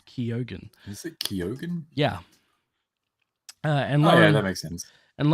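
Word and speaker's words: Keoghan: look that how to say his last name Keogan is it kyogen yeah and Lauren ridloff played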